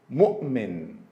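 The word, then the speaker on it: مؤمن: For example, when the seat of Hamza is letter Waw, same as in the word mu'min, the sound of Hamza is just glottal stop, oh, oh. So we say mu'min.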